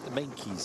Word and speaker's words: Meintjes: I know that Meintjes, I beg your pardon, is the pronunciation, despite that there's no K in the middle there.